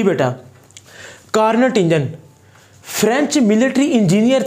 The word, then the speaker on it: Carnot: तो मैं आपको बता रहा हूँ कि इसको प्रोनाउंस कार्नो के नाम से भी कर सकते हैं हम।